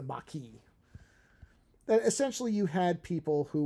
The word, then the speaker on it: Maquis: mckee were the maki how are you supposed to pronounce it i never get it right i think it's the maki essentially you had people